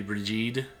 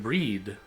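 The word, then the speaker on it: Brigid: American English or maybe bridged if you knew it were Celtic but I know from reading the books that that name is actually pronounced more like breed like the G is basically silent.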